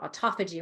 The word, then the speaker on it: autophagy: Autophagy is how you spell it, autophagy, but it's called autophagy when you say it.